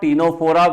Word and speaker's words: Ctenophora: P for Porifera, P for Porifera, C for Coelenterata Cnidaria, T for Ctenophora where the C is silent, PCT.